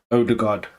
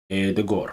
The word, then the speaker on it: Odegaard: Odegaard, big one this season.